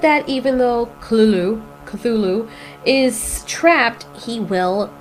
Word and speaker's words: Cthulhu: The call of Cthulhu or Kulu cuz it's actually how you pronounce his name. It's kind of weird.